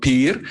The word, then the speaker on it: pir: person yeah it is we would pronounce it differently we would call it pir you call it but